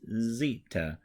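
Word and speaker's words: ζήτα: Z is at the end but this is Zita and the uppercase looks just like a Z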